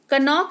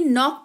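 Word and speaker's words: knock: हैं यानी कि चाकू कनक नहीं नौक पढ़ते हैं यानी कि दस्तक देना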